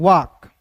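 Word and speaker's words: walk: इसको पढ़ने से पहले डब्ल्यू ए एल के को वाल्क नहीं पढ़ते दोस्तों। यहां पे एल जो है ना साइलेंट होगा। तो इसे देखिए डब्ल्यू ए एल के को क्या पढ़ेंगे दोस्तों? वाक।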